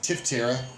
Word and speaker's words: Tiftarea: She says Tiftarea, and I said it's Tiftarea, like Tift County, the area of Tift.